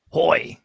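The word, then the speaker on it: Houy: So Gabe Hoy is the guy I wanted to highlight here from Pitt. Hoy.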